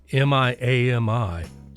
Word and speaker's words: Miami: Cassie Luru Gaines, affectionately called the Oki Songbird, was born January 9th, 1948 in Miami, Oklahoma. Though it is spelled M I A MI like the city in Florida, it is pronounced Miami.